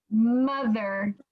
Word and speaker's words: mother: somebody said mother earlier mother so even though it looks like a o it sounds like a u it sounds like uh what's another word that